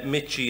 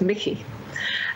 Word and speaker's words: Michie: professor uh susan uh michy and i hope i'm pronouncing your um thanks it's actually a scottish name originally so it's mickey um just to introduce